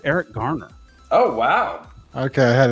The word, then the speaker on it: Garner: I had to make sure it was spelled without a D. Like in the Pittsburgh accent, that's pronounced Gardner.